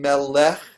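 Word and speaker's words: מלך: Melech. Not melech, right? Melech. Here's the difference between Melech. melech and melech. That's a good. So Melech. so the emphasis is on the M. So it's melech.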